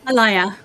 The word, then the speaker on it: Alia: Uh it is your patron uh Alia, I believe the name is pronounced. Alia the beautiful. Allayia.